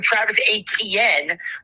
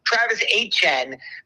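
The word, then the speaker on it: Etienne: it's Travis Hn because you pronounce it more of a Cajun way since he's from Jennings. So he he got introduced today and says it's Travis Hen because that's how his his family has always said it.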